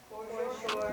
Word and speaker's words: foreshore: Foreshore? Foreshore. Sounds like for sure.